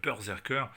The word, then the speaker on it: BRZRKR: Et puis ceux qui savent, savent que ça se prononce berserker et qu'il s'agit d'une référence à to go berserk en anglais qui signifie tout simplement, aller pour résumer de manière vulgaire, péter un câble.